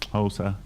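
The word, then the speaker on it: Xhosa: And when you put a X and a O, it goes, oh. That's your, oh, click.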